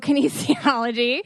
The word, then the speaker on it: kinesiology: and keaney's how do you say that nancy kinesiology thank you kinesiology and she's a pre and postnatal expert she's